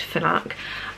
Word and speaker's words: Fnac: how the shops pronounced i want to say fnak it's fnac i think it's pronounced fnak um but i walked